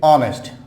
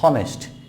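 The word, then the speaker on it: honest: দেন হচ্ছে অনেস্ট, অনেক শিক্ষার্থীই বলে হনেস্ট, হি ইজ হনেস্ট ম্যান নট হনেস্ট, হি ইজ অনেস্ট, অনেস্ট নট হনেস্ট, অনেস্ট।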